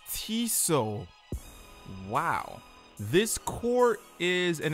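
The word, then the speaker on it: Tissot: so I just looked up how do you pronounce it and it's not even Tiss it it's tiso holy crap yeah comments are really going to murder me this whole time I was calling it tis it it's tiso wow this coure is an exclusive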